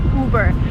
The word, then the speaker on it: Uber: you burn it again you do not follow American pronunciation rules here you just say uber so Lincoln uber